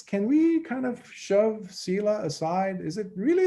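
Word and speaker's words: sīla: uh uh sila oh not fila it's sila s as in simon i l a the i is a long e it has this diacritical mark on it sila is um it's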